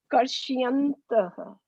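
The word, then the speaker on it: कर्शयन्तः: Why is it Karshi? Why is it Karshi? Why is the I there? Why are you pronouncing I? There's no I there in that word.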